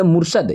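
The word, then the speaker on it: Murshid: पे इसको हम पढ़ेंगे मुर्शद यहां पे लिखा हुआ है मुर्शिद लेकिन आपको पढ़ना होगा मुर्शद और स्पेलिंग क्या हो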